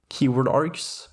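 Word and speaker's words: kwargs: Keyword args, and that's how it's pronounced by the way, the KW stands for keyword, works very similarly to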